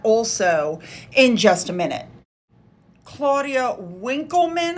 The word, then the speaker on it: Claudia Winkleman: Claudia Winkleman, I believe is how you say her name, was seen leaving there, as was Piers Morgan.